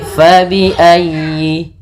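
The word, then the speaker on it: فبأي: Fa fa hati-hati jangan dibaca dengan pa. Kemudian dalam ayi ditekan huruf ya karena dia tasdid dan huruf ya termasuk huruf lin yang lembut di dalam plafalannya jangan dihentakkan.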